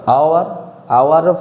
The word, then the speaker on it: hour: तो आवर first pronunciation कौन आसो आ। तो अपन माउथ रे आ होची। तेणु कौन करवा ना ता पूर्व आन लगा।